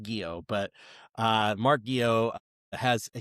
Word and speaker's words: Guiod: But Mark Guiod, I had to look to make sure I got Guiod right, because his name doesn't necessarily look like it would be pronounced Guiod, but Mark Guiod has a huge history.